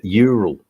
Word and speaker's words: Ural: one with the side car what why you pronounce that or Ural or something like that Ural it's not the um it's not the urin